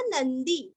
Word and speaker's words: नंदी: अभी आगे बढ़ेंगे 73 भगवान भगहा नंदी वनमाली हलायुधः, आदित्यो ज्योतिरादित्य सहिष्णुर्गति सत्तमः, भगवान आधा न पूरा भगवान नहीं बोलना है, भगवान भगहा नंदी दी दीर्घ, भगहा नंदी, भगवान भगहा